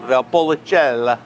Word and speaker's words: Valpolicella: Is it pronounced Valpolicella, that wine? Valpolicella.